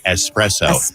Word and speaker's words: espresso: Like in the song espresso. By the way, you hillbilly, it's espresso, not espresso.